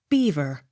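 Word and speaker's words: Belvoir: l e r c beaucler accent on first syllable b e l v o i r beaver b e r k e l y barkley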